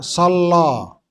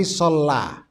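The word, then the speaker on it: صلى: ini Sallallahu Alaihi Wasallam Perhatikan cara bacanya bukan shallo tapi shalla bukan sah tetapi shalla baru kalau Allah Allah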